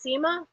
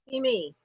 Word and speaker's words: Simi: So rather than have it sit, oh, yours is pronounced Sima? Simi. It's pronounced Simi. Yeah, now see, the girl I went to college with, she said it was, she had it spelled the same way, but had always said it was Sima.